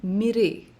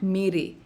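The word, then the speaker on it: मिरे: Notice here that in the second line, he's saying mere, बहुत निकले मेरे अरमान, and not mere.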